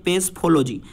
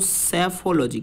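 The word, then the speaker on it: psephology: बोलते हैं, उसे दोस्तों बहुत लोग इसको पढ़ते हैं पेसफोलॉजी, लेकिन पेसफोलॉजी पढ़ने से ये गलत प्रोनाउंसिएशन है, ये पेसफोलॉजी प्रोनाउंसिएशन नहीं होता है। इसका जो सही प्रोनाउंसिएशन होता है वो होता है दोस्तों सेफोलॉजी।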